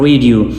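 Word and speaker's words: read: New song on द रेडियो। आई रीड 3 books last week, I रेड 3 books last week. रीड को आपने लिखना इस तरह है, प्रोनाउंस आपने रेड करना है, आई रेड 3 books last week.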